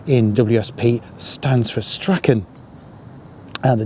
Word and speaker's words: Strachan: an Ulster Scot, although some local people pronounce it as Strauns. I'm not entirely sure why. It's something to do with the spelling, but as from my research, it is pronounced Strachan because of his Scottish, Ulster Scots origins.